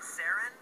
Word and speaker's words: Saren: Is it Saren? Yeah, different, like, people pronounce it differently, but yeah, Saren is, like, pretty common.